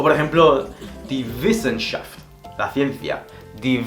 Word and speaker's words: Wissenschaft: En alemán la W se pronuncia como una B, haciendo vibrar el labio inferior.